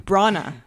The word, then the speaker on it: Branagh: Branagh.